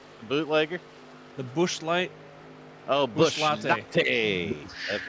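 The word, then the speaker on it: Busch Latte: Oh, Bush Latte. Latte. That's right. Latte.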